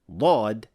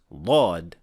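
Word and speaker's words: ضاد: part of their dialect, do pronounce Dhad as a heavy Da. But since we cannot consider all other variations of other letters as classical Arabic, we cannot use this pronunciation of Dhad as the classical pronunciation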